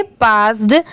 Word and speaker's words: passed: इसे हम क्या पढ़ेंगे, पास्ड। अब जैसे देखिए PASS, ये क्या होता है इतना, पास, और लास्ट में यहाँ पर भी अगर ED लग गया तो इसे क्या प्रोनाउंस करेंगे? पास्ड।